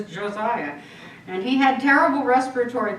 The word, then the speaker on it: Josiah: tell you for years I called him Hosea because I'm a New Mexican and I pronounce everything like Spanish so to me it was cause I agree but he was Josiah and he had terrible